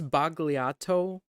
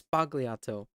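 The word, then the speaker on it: sbagliato: B what the heck and it's bogliato I thought it was spagliato oh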